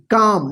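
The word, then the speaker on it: calm: सी ए एल एम, इसको क्या पढ़ेंगे काम, देखिए एम से पहले एल आया ना तो एल साइलेंट होगा, काम, काम का मतलब क्या होता है शांत, ठीक है।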